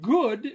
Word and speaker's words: good: Wood does rhyme with good, but wood does not rhyme with food.